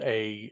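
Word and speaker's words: Aodh: female we have a which in the story is pronounced is spelled a-o-d-h but it's pronounced a as far as i could tell see like mine's thinking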